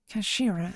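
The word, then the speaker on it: 頭: end of the hilt it's written as head in japanese but it's pronounced as kashira i believe kosher you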